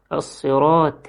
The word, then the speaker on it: الصراط: يقول الصراط، الصراط، بيلغي الصاد ويحط مكانها سين، يا إما يلغي الطاء ويحط مكانها تاء، فيقول اهدنا الصراط المستقيم، الصراط المستقيم، وهي الصراط، الصي مش السي، الصراط المستقيم، يجيب السين صاد المستقيم، ويجيب التاء طاء المستقيم.